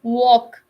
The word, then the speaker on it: walk: a vowel next is letter l the words like calm walk yoke so we don't even pronounce letter l in these words can you give me